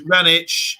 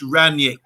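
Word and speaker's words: Rangnick: last one here is ranch is pronounced ranyik a great interim if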